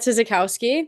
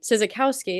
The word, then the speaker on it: Sizikowski: Welcome everybody for the next, I'm Sizikowski. Sizikowski is how you pronounce the last name.